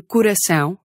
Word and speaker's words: coração: Or even one of those little nasal tilde things. As in coração. In all of those cases, you stress the syllable with the diacritic.